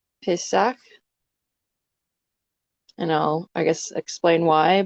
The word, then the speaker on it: Pesach: So some people pronounce it Pesa. I would say probably with the characters, I pronounce it more Pesach.